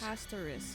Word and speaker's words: Castorice: Castorice. Hey, that's how you say it.